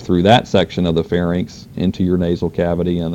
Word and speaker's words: pharynx: All right, so that's pharynx, and it is pharynx, it's not pharynx, so be careful about your spelling and pronunciation with that.